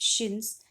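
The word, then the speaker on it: chintz: as the calico act the english term shins pronounced shins comes from the hindi word shint meaning a cloth with small colorful flowery designs at the helix of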